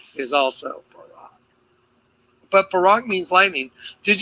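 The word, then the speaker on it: בָּרָק: Let me show you how to pronounce that word. Definition: a flash of lightning. Say it with me. Barak.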